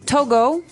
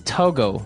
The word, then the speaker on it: Togo: country toges toges okay so it's Togo that's the way you pronounce it because if you look at it I would say too right but it's not